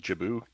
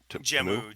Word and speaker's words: Jammu: Jabu. Jammu.